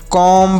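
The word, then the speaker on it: comb: क्या हमने बताया कि एम के साथ अगर बी का प्रयोग होता है तो बी साइलेंट होता है यानी अम के साथ कहीं पर भी बी लिखा रहे तो वह बी साइलेंट होगा इसे ऐसे पढ़ेंगे कॉम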